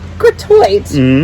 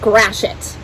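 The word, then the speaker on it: Gratiot: read it here gratoit gratoit so it's not gratoite it's actually pronounced grashit great i'm gonna grash it like smash but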